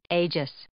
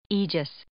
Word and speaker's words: aegis: pronunciation aegis merriam-webster actually also gives an alternative pronunciation ages and this alternative pronunciation is basically just a